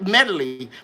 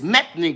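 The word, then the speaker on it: Methley: was calling the royal i was calling it medley but it's methane plum methane plum and who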